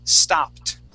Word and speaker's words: stopped: P okay that Ed D sounds like a t so the word is stopped stopped good one more